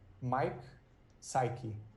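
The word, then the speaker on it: Mike Psiaki: sorry would you say his name once more mike psyche p-s-i-a-k-i oh yes oh yeah this is designer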